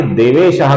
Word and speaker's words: देवेश: विसर्ग है इसके आगे देवेशः का द आया हुआ है। इस कारण से महादेवाह का भी बन जाता है। महादेवो। उसी प्रकार देवेश नाम है जिसमें श है श नहीं है श है देवेश का जो विसर्ग है